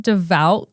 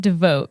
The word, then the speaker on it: devout: stake geez also rewind isn't it devout catholic did i not say that you said devote oh my bad yes